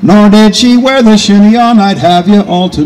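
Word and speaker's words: chignon: in that day and pronounced the word shinon because he's an Irishman from countries and he doesn't know any better but you and I would pronounce it Shino right the French hairstyle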